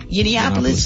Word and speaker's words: Yiannopoulos: Yiannopoulos?